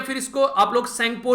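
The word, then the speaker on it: Tsangpo: फिर इसको आप लोग सेंगपो रिवर के नाम से भी जानते हैं, इसमें टी साइलेंट रहता है। ये वो रिवर है जिसको यारलंग ज़ेंगपो या फिर सेंगपो बोला जाता है तिब्बत वाले रीजन में, ठीक है।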